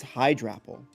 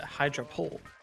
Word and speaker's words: Hydrapple: talked about okay hydrappel hydra or hydra Apple. I think it's hydrapple. Like a hydra. Yeah. Or it's a hydraul.